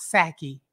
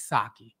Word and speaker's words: Saki: I'm like, it's not Saki, it's Saki. And that's okay. You know, most, like, ain't nobody walking around trying to figure out how to pronounce a Japanese name.